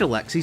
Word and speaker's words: Alexi: He is named Alexi simply because it rhymes with pixie.